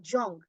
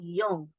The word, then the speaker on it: Jung: young your your mind initially think it's K Jong but it's actually K Yong and the J is pronounced yeah or we if you like then